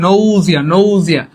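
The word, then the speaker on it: nausea: বমি লাগছে মনে রাখবেন এটার ইংলিশটা হবে নজিয়া উচ্চারণটা কি হবে নয়াজ আইফিল মানে আমার বমি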